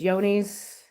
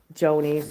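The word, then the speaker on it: Johne's: I know it's Yoni's, which a lot of people pronounce Joni's or whatever, because it starts with a J, but it's pronounced Yoni's.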